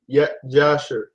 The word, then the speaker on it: Yashayah: Enoch, and the book of Yashayah. Yashayah. Because there was no J, right? I mean, no, there was no J then, so that J is silent.